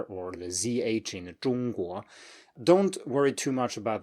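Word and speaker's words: 中国: If you say 中 high, and then you start saying the 国 at the same height as you ended the 中, then you will have like a 中国, and you have no space left to go up because you're kind of already at the top of your pitch range, right?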